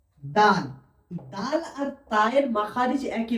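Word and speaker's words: دال: দাল সায়ের মতনই হয়, জিভের আগা এবং সামনের উপরের দুই দাঁতের আগার সাথে লেগে উচ্চারণ হবে।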